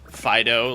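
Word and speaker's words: Fidough: Fido, like a dog, but spelled like dough, like bread, what it looks like.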